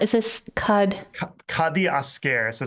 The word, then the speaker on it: Kadiasker: So I don't know how do you pronounce is this kad kadi aare.